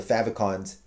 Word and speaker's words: favicon: they don't have the favicons favicons favicon is how you say it I learned that the hard way by saying favicon for decades um so yeah uh